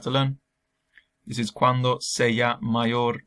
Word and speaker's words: sea: This is cuando sea mayor. This is not si, or however else you want to pronounce it. It's sea, cuando sea mayor, when I'm older.